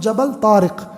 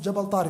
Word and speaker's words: Jabal: jar even as an English person you can't pronounce it it's called jabal they removed the IQ from it jabal he crosses from Spain into jabal tar into